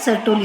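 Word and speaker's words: Sertoli: है उसको बोलते हैं सरतोली सेल्स। हमारे इधर लगभग में हमारे यहाँ सुरतोली है, सुरतोली ध्यान में रखना, लेकिन स्पेलिंग में यस यू ना लिखकर यस ई लिखना, सरतोली सेल्स।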